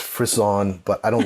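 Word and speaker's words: frisson: we calling it the Frisian lab I know it's pronounced frizz on but I don't like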